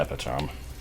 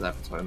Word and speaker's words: epitome: the epitome I uh I did for the longest time think think of epitomy and the written word e p i t o m which I mentally pronounced as epome as being separate things even though I you